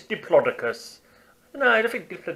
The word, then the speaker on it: Diplodocus: and his Diplodocus no I always used to pronounce it Diplodocus and sometimes I still say deeply focused because